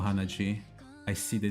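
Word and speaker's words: 鼻血: D, G, Hanadi. 鼻血 Oh, Hanaji. I see the D, Hanaji.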